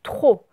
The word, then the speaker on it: trop: le lire facilement bon le p faut pas le prononcer c'est écrit trop comme attention tu mon ami trop où tu parles trop fort voilà trop bon bah